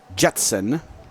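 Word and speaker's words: Gjetson: And we got a Austin Jetson, spelled G-J-S-T-S-O-N, pronounced Jetson.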